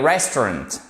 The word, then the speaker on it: restaurant: Vous avez votre accent tonique qui est ici. On accentue sur la première syllabe.